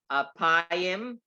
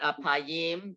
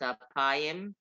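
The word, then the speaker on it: אפיים: It's apayim, not apayim, because we have the metek under the next to the last syllable, so it's apayim, and Ugdol.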